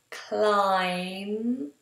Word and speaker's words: climb: So just so you can see me saying this, we have comb, and it's an M, comb, and then we have climb, no B, and then if you can't feel your fingers are numb.